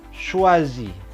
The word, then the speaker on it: choisis: Tu choisis. Tu choisis. Sama ejaannya tapi S-nya juga tidak dibaca.